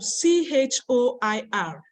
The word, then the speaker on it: choir: like chill Church chosen but when it comes to c-h-o-i-r the pronunciation is different it's called choir how it happened I